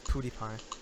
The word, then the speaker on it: PewDiePie: But no, he was in some clan years ago, and he confirmed that the way you pronounce it is Pewdiepie.